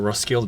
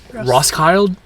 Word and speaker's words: Roskilde: day and we just got to Rocklide or Roskilde actually is how you pronounce it. I actually don't know how to pronounce this town. Rossky. Ross Kyle. Rosskilde.